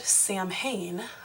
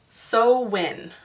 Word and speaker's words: Samhain: ancient celtic festival of i would have said samhain but there was a little thing right next to the word that tells you how to pronounce it and it's so win i believe so these people